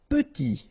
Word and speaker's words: petit: Petit. Okay, remember to pronounce this E like a E. Petit. Final T not pronounced.